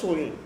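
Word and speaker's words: Samhain: এস এ এম এইচ এ আই এন এটার উচ্চারণটা হবে সইন।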